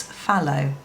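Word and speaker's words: Phthalo: i went online and i found out how to pronounce it and it's fallow which is quite interesting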